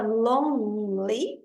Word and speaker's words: lonely: A palavra lonely, a gente não pronuncia o E, então é lonely, lonely.